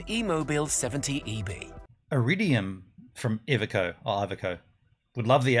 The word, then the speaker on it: Iveco: Iveco. Is that how you say it? Iveco? He said it, didn't he? He said Iveco.